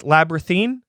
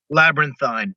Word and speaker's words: Labrynthine: to the project that how is it pronounced labra thene labyrinthine labyrinthine labyrinthine say cyanide you know okay labyrinthine okay